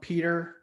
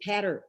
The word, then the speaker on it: Peter: This one is from Peter, if that's pronounced correctly, from Paterbar. It's Patter. My first name is Patter.